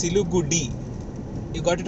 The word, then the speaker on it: Siliguri: See, in English they are writing Siliguri, RI, okay, but when they're pronouncing, they are pronouncing it as Siligudi.